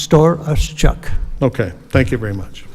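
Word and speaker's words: Storochuk: h u k pronounced store us Chuck okay thank you very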